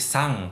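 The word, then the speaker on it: さん: intinya terakhir tentang kata san di belakang nama orang misalnya contoh yang tadi siori sang bla bla bla bacanya itu bukan Sun ya bukan San tapi sang kayak ada g-nya di belakangnya Sang di Jepang kalian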